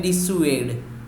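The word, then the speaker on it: dissuade: कुछ ना करने के लिए समझाना, तो उसका प्रोनाउंसिएशन है डिस्यूएड।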